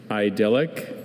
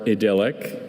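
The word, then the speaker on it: idyllic: Idllic or idilic is an adjective. It's from a word that went from Greek to Latin. Idllic means pleasing or picturesque in its natural simplicity. Idelic. Any alternative pronunciation for the word? There are two. There's idllic and idilic.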